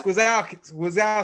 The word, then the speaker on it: Gwiazdowski: Gwiazdowski. Gwiazdowski, the yes, Gwiazdowski.